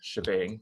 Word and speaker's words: shebang: add what's called the shebang to the file. So the hashtag exclamation point often pronounced as bang, called the shebang together, needs to specify exactly